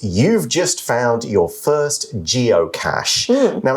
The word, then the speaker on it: geocache: just found your first geocache now it's got a CH but it is pronounced with the sh sound the article then says